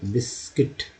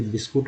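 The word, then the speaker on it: biscuit: Next है बिस्किट, बिस्किट, लेकिन लोग इसे बिस्कुट बोलते हैं, तो उससे तो उच्चारण बिस्किट होता है, जो कि अंग्रेजी वर्ड है, लेकिन हिंदी में इसे अगर कहा जाए कि बिगड़ा हुआ रूप है बिस्किट का, बिस्कुट।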